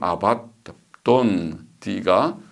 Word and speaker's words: 아바돈: 보면 히브리 말로는 아바돈, 발음을 아바돈, 드가 딱에 씨가 붙어서 중복하면 중복되는 것입니다.